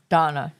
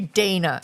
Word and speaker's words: Dana: this wit Dana Bash Donna Donna Dana Don supposed to be Dana every I've never seen it's spelled D N A and pronounced any other way other than Dana so Dana not special